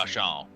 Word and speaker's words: falchion: So you do notice you do notice that the leader was actually had a pretty impressive falchion or falchion that he was It's pronounced using. fashion.